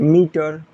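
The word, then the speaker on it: meter: तो इसका कॉन्सेप्ट अलग है कि यदि किसी वर्ड के अंत में ई आर हो तो ई का उच्चारण अ होता है, और इसका स्ट्रक्चर ये वाला है। तो मीटर।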